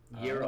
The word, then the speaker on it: Gyros: Gyros. Oh, I see. Yeah. The G is pronounced like a Y.